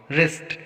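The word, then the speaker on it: wrist: रिस्ट, यहाँ पर भी डब्ल्यू के बाद आर आया है तो यहाँ पर भी हम डब्ल्यू का उच्चारण नहीं करेंगे, इसको रिस्ट पढ़ेंगे।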